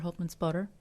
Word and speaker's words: Holtmannspötter: it in a German way I apologize Dr hman spotter how are you today I'm very fine and